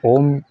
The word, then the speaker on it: ओ३म्: अच्छा, एक बात मैं आप लोगों को बताना भूल गया, ये जो ओम का जब भी हम उच्चारण करते हैं तो इसमें जो 3 मात्राओं का रोल है, आकार, उकार, मकार, अ, उ, म, जैसे हम बोलते हैं